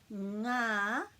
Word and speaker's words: Ngā: So ngā, the sound ngā, my tongue is actually kind of back here. Ngā, it's different to the sound nā with just the N. So it's ngā because this G has to be pronounced.